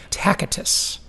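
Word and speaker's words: Tacitus: 2,000 years ago, a Roman gave this quote, and I I think you pronounce the name Tacatus.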